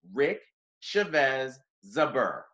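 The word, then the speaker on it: Rick Chávez Zbur: am honored to have the organization's executive director rick chavez zuber did i say that correctly yes you did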